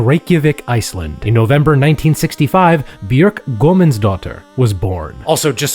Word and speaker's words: Björk: Also, just so we're all on the same page about this, an umlaut over the O means that you pronounce the O through the lips of a U. Her name is Björk, like beef Björky, not Björk like Björk chops.